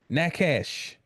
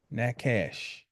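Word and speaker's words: נחש: Nakash is the Hebrew word for serpent. Nakash. Now, when you spell that word out in Hebrew, it is a nun.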